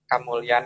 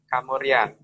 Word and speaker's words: Kamulyan: Di kerajaan ini, kalau dalam bahasa kita yang biasa kita dengar bahwa Kamulyan itu juga sering diucapkan sebagai Kamurian, sehingga kalau kita menyebut dalam bahasa Jawa itu biasanya kan ada penghilangan di suku kata depan.